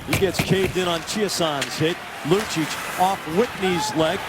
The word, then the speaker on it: Chiasson: Chiasson's name widely pronounced Chason. He said he's okay with that. But when we talked to him in November, he would prefer Chiasson.